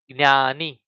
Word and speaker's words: જ્ઞાની: Okay, so this gna, when we want to pronounce gna, we say, we pronounce like this, jnani.